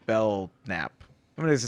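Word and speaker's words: Belknap: right willy willy w bell knapp i'm going to say bell nap willy b the k is silent so he was implicated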